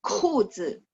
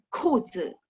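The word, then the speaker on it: 裤子: baca th 条 25 裤子 ka baca kh 裤子 ya 裤子 terus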